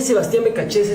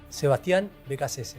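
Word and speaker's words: Sebastián Beccacece: De Sebastián Becachese es su primera. El nombre se pronuncia así. Sebastián Becachese.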